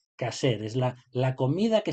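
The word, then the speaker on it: kosher: le llaman ellos eh se escribe coser pero se dice caser es la la comida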